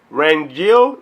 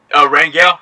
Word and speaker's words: Rangel: with my homie ran guild is how you say your last name makes you seem right oh man it's fine it's good it's good how you said Rangel yeah Randy Rangel I